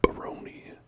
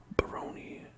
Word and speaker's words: Barone: Baroni, it might be Barone, but I'm gonna say Baroni because it rhymes with baloney.